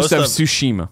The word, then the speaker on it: Tsushima: of ghosts of what Kevin how do you pronounce it scheme throw up there you go thank you go Tsushima Tsushima yeah thank you very much trailers really